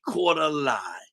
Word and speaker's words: Nii-Quartelai: Nii-Quartelai. You got it. Nii-Quartelai. Yeah, if you say it phonetically, Nii-Quartelai, you can say it. But if you try to say it from reading it, it'll be Nii-Quartelai Quartey.